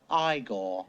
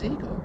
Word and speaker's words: Igor: Master Get Ready Get Set You must be eagor now it's pronounced igore but they told me it was eagar well they were wrong then weren't they go